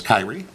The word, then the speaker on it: Kierre: It's spelled Kierre, so I believe the correct pronunciation is Kierre.